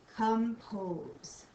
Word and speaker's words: compose: and the O says o in compose this one kind of says an us sound like an umbrella compose all right that takes